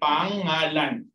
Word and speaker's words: pangalan: Okay, there's a problem there with the pronunciation. It's okay, pangalan. Okay, it has the same pronunciation as the Filipino term for your name.